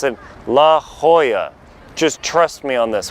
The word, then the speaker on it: La Jolla: look like a non-local it's a Spanish word Spanish people Mexican people Spaniards pronounce it La Hoya just trust me on